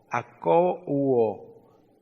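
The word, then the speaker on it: ἀκούω: Se traduce anuncio y se desprende, se traduce anuncio y se desprende de acouo, acouo, A-K-O-U-O, acouo, acento en la U, dos puntos.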